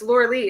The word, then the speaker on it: Lorelai: Laura Lee, I discovered. It's Laura Lee, isn't it? And we've been pronouncing it wrong all this time.